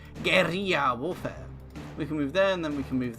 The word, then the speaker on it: guerrilla: yeah it's Gary yeah I need to pronounce it properly which I believe you pronounce it Gary yeah warfare we can